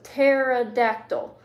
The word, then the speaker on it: pterodactyl: this a lot but the pt in this case makes a t sound so pterodactyl um isn't that funny